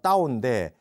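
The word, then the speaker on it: 道: 많이 쓰고 그다음에 이제 그 중국어로 도가 따오인데 쓰기를 타오라고 쓰거든요. 그래서 이걸 이제 도교라고 하는 말을 이제 쓰기를 시작한 겁니다. 이게 이제 발음은 따오인데요. 이게 이제 그 표기법을 타오라고 한 거죠.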